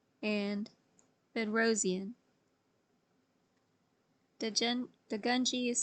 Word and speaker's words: Bedrosian: The concept of complex envelope was popularized by Degunji and Bedrosian. Degunji is spelled D-U-G-U-N-D-J-I, and Bedrosian is spelled B-E-D-R-O-S-I-A-N.